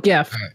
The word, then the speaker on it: GIF: do you pronounce gif gif with a G or jiff with a soft G so I call it gif so it's a yes